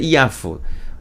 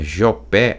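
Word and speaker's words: יפו: tradução vai estar geoper como é que se pronuncia né mas é Yahoo inclusive gente se você for a Israel e você procurar uma cidade chamada joopé ou Jope você não vai encontrar de jeito nenhum né O que existe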